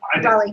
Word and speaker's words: Raleigh: Raleigh.